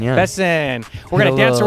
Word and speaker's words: Besson: It's Besson, yeah. Besson.